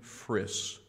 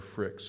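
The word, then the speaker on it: Frix: There's a little boy by the name of Lincoln Friss. Friss or Fricks, it's F-R-I-X, Lincoln Fricks. So I'm not sure the pronunciation of his last name, but I'll just read this to you.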